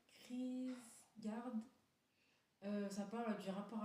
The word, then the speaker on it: Kierkegaard: Alors, la prononciation, Kierkegaard.